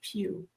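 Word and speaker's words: Pugh: that it's actually pronounced pew Florence.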